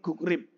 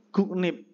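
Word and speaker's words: 국립: Ya gukrib itu kan pertamanya bacanya sebenarnya menjadi guk guknip gitu kan rnya itu berubah menjadi apa Nen jadi guknip terus ketika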